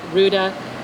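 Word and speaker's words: Rouda: be able to represent congressman Rue de rhymes with Gouda here today to present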